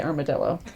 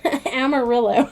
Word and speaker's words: Amarillo: I always really want to say armadillo. Amarillo. I still said it wrong.